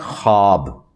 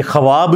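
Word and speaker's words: خواب: हुए उड़ जाति है इसको पढ़ने का तरीका है खाब ये ख्वाब नहीं पढ़ा जाता वैसे उर्दू में चल भी जाता है लेकिन ये लफ्ज़ है ख्वाब तो वो उसमें फिर साइलेंट हो जाति है तो यह जो खबरें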